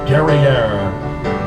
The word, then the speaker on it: Guerriere: she encountered the HMS Guerriere, which we are all noticing rhymes with the word derriere, which in fact was